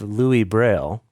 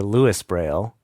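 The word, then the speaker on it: Louis Braille: that's the story of Louie Braille or Lewis brail depending how you pronounce his name uh the inventor of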